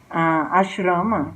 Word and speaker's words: आश्रम: Então, em português, isso no geral vai ser escrito como A-S-H-R-A-M-A. Aí tem umas outras pronúncias e tal. O certinho seria ashrama, mas por enquanto deixa isso quieto.